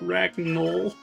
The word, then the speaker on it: Ragnell: lore rants but uh kind of like rag null it's just like the